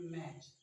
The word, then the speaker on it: match: और एक एग्जांपल देखना चाहें तो हम कह सकते हैं मैच, MATCH, यहाँ पर भी टी क्या है, साइलेंट है।